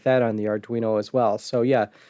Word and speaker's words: Arduino: recreating sega's columns with arduino which i mispronounced how do you pronounce that arduino yep okay you got it right you just didn't say it fast enough for it to sound correct oh okay so this